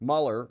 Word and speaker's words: Mueller: courts and so on Mueller rhymes with doar says Gates's resignation letter